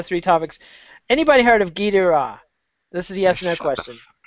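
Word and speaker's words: Gilles de Rais: It's French. I know, my French is terrible. All right, so it's Guy Dura is how I say it. It's Gilles de Race is how it's spelled.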